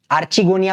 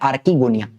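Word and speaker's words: archegonia: आर्चगोनिया भी बोलो। ठीक है? आपकी मर्जी। लेकिन करेक्ट प्रोनाउंसिएशन होता है आर्कीगोनिया।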